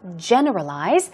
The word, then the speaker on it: generalize: generalize here we go stress goes on the first syllable generalize and it means to conclude